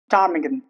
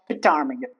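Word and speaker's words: ptarmigan: Tarmigan. It's not parmigan.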